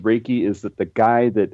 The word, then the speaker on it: Reiki: but help me with that uh it's actually pronounced raiki it it it's made from two different Japanese